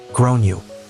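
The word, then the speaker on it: Gráinne: and I said well in Ireland they typically pronounce it like grown you her face went red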